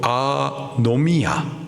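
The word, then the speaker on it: ἀνομία: 불법 헬라식 발음으로 아노미야 그 뜻은 단순히 법이 없음 뭐 법을 깨뜨림이 정도의 뜻이 아니라 하나님에 대한 반역을 말하는 겁니다.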